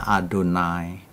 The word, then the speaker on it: Adonai: Kalau orang memakai Yahwe ya silakan. itu sebutan populer tapi bukan kebenaran yang dari Alkitab. Kalau kebenaran dari Alkitab bacanya Adonai, Saudara bisa cek sendiri